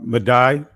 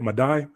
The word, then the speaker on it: Madai: Madai? Yeah, is that it? Madai?